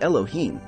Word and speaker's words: Elohim: the scriptural words G greater than alh ym pronounced Elohim alh LH H is a passive plural in